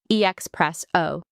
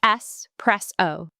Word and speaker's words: espresso: So many people say EXpresso with an X, but there's no X. It's S-press-O. Think press, not express.